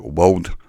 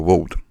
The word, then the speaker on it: world: to pronounce this is because we get r r and an L running consecutively in this is a buffalo so you maybe have to take a shortcut here and just say something that looks like world or a world and no one will